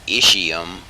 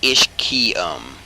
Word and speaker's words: ischium: It looks like it would be ischium, but it's ischium. K-E-Y. Ischium.